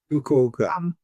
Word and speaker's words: Fukuoka: Which train did I take to, how do you pronounce that? Fukuoka? Fukuoka.